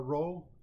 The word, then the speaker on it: rho: The coordinate rho, it's pronounced rho in spherical coordinates, should not be confused with r in cylindrical coordinates, which is a distance from P to the z-axis.